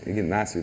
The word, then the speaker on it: Ignácio: Ignácio. A escrita é Ignácio, a pronúncia é Inácio.